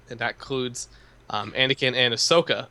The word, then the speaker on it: Ahsoka: So Twilight of the Republic is the launch playset, and that includes Anakin and Ahsoka. Ahsoka is how you say it, right? That's correct.